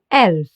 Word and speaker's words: Elf: Let's take a second here and focus on the e. Listen closely how it's pronounced in German. elf Exactly. The letter e is called e in German because it's pronounced like the e in bed or select.